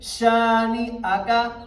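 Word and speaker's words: شانئك: نہیں لکھا ہوا ہے۔ اس بچے نے پڑھا شانئک، شانئک نہیں، شانئک، شانئک، شانئک۔ اب اس کو میں دوبارہ ریپیٹ کرتا ہوں، ان شانئک هو الابتر۔ تو یہ اصل اس کا تلفظ ہے۔ امید ہے کہ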